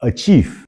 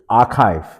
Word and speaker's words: archive: The word archive, we hear people pronounce as achieve. "I will achieve my Instagram post." So, it's actually archive.